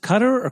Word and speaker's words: Qatar: Um you go to is it pronounced cutter orqatar? You Yeah, you can say it either way.